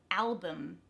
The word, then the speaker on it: album: The first one, album. That al in the beginning is the stressed syllable, so it becomes bum at the end.